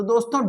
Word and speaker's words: the: तो यहां पर जो टी एच ई दोस्तों लिखते हैं इसे हम दी पढ़ेंगे दी एग तो अब मैं दो एग्जांपल